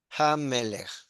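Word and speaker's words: הַמֶּלֶךְ: Pero cuando está al principio, la G se pronuncia y es Hamelech.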